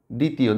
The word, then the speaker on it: দ্বিতীয়: শব্দের শুরুতে বফলা বা মফলা যেটাই হোক না কেন, শব্দের শুরুতে সাইলেন্ট থাকবে। স্বদেশ, স্বপ্ন, দ্বিতীয়, দেখো বফলা।